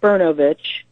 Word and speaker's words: Brnovich: It's pronounced Brnovich. The spelling of his last name is Brnovich. Brnovich.